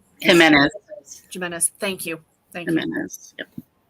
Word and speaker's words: Jimenez: truly by Abby I always say the last name wrong is it jamira's Jimenez Jimenez thank you thank you I love the